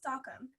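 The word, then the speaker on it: Sachem: my friend soccer games even though the word is technically pronounced sockum seeing sat and pride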